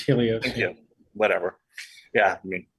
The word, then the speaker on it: Helios: it is a Acer hos I'll say it wrong laptop Predator La hos what ever helos h e IO helos it's Helios you whatever yeah I